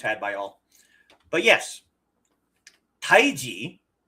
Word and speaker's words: Tai Chi: It is just Tai Chi and Chi Gong. See, most people think of Tai Chi the way it's spelled at the beginning of our title for today as t h i c h i and Chi as in the Chinese life force Chi. But it's not.